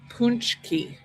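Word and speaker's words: pączki: I'll try it, but it's pronounced like punchki.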